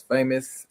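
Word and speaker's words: Faymos: My name is Famous. And yes, that is my real name. And as you can see over right there, you can see that the um the name is spelled different. So F A Y M O S.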